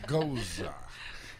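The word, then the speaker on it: gueuze: Goza. You pronounce the G kind of like guttural H.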